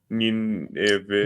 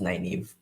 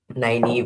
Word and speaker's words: Nynaeve: Nineveh. Name one. It's pronounced Nynaeve. Yeah, nine, nine. Nynaeve.